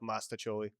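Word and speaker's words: mostaccioli: Yeah, I've always pronounced it Masticholi. It's always been muscatcholi, but now that I've been older, I've been trying to teach myself mastacholi.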